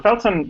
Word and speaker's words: Felton: you know I mean feltron is definitely or Felton sorry his website is spelled Tron but he is Felton yeah kind